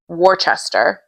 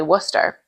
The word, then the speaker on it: Worcester: It's spelled like Worcester. Warchester. Yes. But we say Worcester.